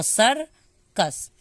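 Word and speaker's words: circus: देखिए यहाँ पे तो सी के बाद आई नहीं आया ना, इसलिए मैंने सी को क पढ़ा है, और यहाँ पे सी के बाद क्योंकि आई आया है तो इसलिए सी को मैंने स पढ़ा है।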